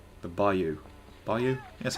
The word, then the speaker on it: bayou: Whereas even like the bayou bayou, that's how you say it.